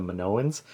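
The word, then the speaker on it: Minoans: And so yeah, I since I kind of got it wrong, I said my sance instead of manowans, I you know, changed it, but instead of just saying like, you know, just saying manoans, I, you know, did some research.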